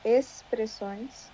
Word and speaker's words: expressões: expressões uhum geralmente expressões nós falamos expressões ah expressões aham é o x fica com som de s uhum compreensível nós